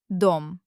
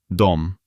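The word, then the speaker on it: дом: And now a word we already know, but now we'll pronounce it with the correct letter. D. Dom. Dom.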